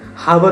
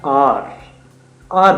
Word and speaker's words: hour: तो उनके लिए बेसिकली हम हार बोलते हैं, हावर बोलते हैं, बच्चे उसको मिस प्रोनाउंस कर जाते हैं। एच ओ यू आर होता है आर बोलते हैं बेसिकली।